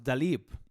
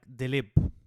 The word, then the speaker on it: Daleeb: right so that was dalip it's actually pronounced more like delib rhythm and this is